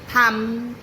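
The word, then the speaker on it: thumb: तो सबसे पहले बात करते हैं ऐसे वर्ड्स की जिनमें एम के बाद आता है बी और ऐसे में बी हो जाता है साइलेंट जैसे क्लाइम, थंब, बॉम्ब एक्सट्रा।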